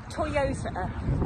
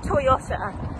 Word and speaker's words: Toyota: The Japanese car brand, it's pronounced Toyota, not Toyota.